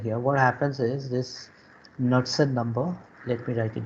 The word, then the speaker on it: Knudsen: Okay, and that is basically called the Knudsen number. Okay, K is silent here, so Knudsen, Knudsen number.